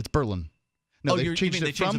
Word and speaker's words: Berlin: London, Madrid, Paris, and Berlin. The company, which is also, I'm sorry, I pronounced that the New Hampshire way. Berlin is how you pronounce it the international way.